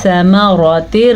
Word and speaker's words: ثمرات: ثمرات، یہ والی را پر پڑھی جائے گی، اس را پہ زبر ہے اور اس را کے نیچے زیر ہے.